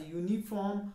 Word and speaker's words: uniform: carry the article uh though they start with a vowel but they have a consonant sound for example a university a union a uniform a unit a one